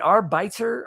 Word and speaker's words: arbiter: Is it arbiter or arbiter? Arbiter or arbiter? Arbiter. It's an arbiter. I put the emphasis on the wrong syllable.